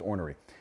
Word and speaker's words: ornery: with when he's ornery that is exactly how the word is pronounced ornery let's talk about chaos